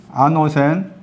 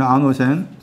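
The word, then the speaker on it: ἄνωθεν: 요한복음 3장 3절 7절 아노센 발음으로 쓰면 아노센 위로부터 이해도 다 역과입니다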